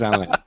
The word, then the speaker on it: Alain: But I am standing by the fact that this should be pronounced with a French accent because it is based on the Cavalier, or Chevalier. Which is a French tradition, and just because, all right? Bard Wannabe, just because. Alain's name is Alain.